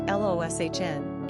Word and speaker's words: Lucian: The spelling of Lucian, pronounced Loshn, is used among English speakers.